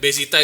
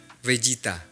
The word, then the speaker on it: Vegeta: Bezita itu bacanya apa ya? Vegeta. Hah? Sebenarnya Vegeta tapi kan ee pronunciation orang Jepang buat V dan F itu agak susah. Iya. Jadi V jadi B gini gini nama aslinya Vegeta cuma dibacanya Vegeta.